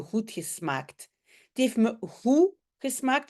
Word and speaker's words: goed: Het heeft me goed gesmaakt. Souvent, vous le savez, le D, on ne le prononce pas.